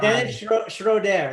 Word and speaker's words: Dennis Schroeder: Yes, Dennis Schroeder.